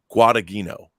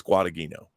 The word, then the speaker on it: Guadagnino: I can't pronounce his last name. Guadagnino. I think it's Guadagnino.